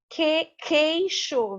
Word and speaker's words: queixo: Queixo. Veja que eu tenho o som do K aqui.